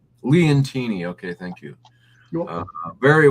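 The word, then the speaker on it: Leontini: This Sicily Leonati. This was a very mintstate looking coin. I wasn't too fascinated by the art, but I thought it was very well struck. And yeah, that's pronounced Leantini.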